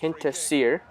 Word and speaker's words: Hinterseer: It's Hinterseer. That's how it's spelled.